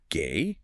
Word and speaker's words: Ge: G is gay. Gay. Gay. Like a little puff of air.